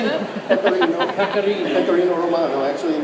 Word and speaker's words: pecorino: Okay, this is pecorino cheese, which is a how do you say that? Pecorino.